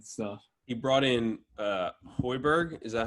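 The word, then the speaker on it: Højbjerg: his attitude and stuff he brought in uh hoiberg is that how you say it yeah yeah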